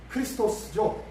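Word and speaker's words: Χριστός: 했는데요 한번 그리스도가 한번 봅시다 그리스도 그리스도라 자 크리스토스 보통 이제 기도원 같은데 보면은요 p x 이렇게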